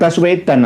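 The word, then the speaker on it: Baswedan: Nggih bas Wedan tapi tulisannya bukan basuwaidan maksudnya ba suwaidan gitu loh Tapi kadang-kadang bacanya bas gitu loh ba suwaidan misalkan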